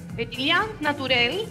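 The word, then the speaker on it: Pétillant Naturel: Petillán, ¿cómo se pronuncia? Petillán Naturel, que Petillán significa naturalmente.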